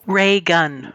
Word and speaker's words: Reagan: reagan is that how you say his name regan that that guy ray gunn we call him your holiness down here thank